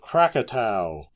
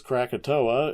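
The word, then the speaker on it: Krakatau: ferocity, transcending even those of Crackkatau, T- Au. If it was Crakatoa, it would be K R A K A T U A. But that's not how it's spelled, so I'm not going to pronounce it like that.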